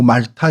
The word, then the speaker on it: 몰타: 그 저는 이제 몰타 공화국이라고 하는데 뭐 발음은 뭐 말타 이렇게 부르기도 하더라고요. 어, 위치는 지도를 첫 번째